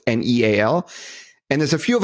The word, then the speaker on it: Neal: I am the real Neal, so don't make the Starbucks barista fail and spell it like Kneal. It's Neal.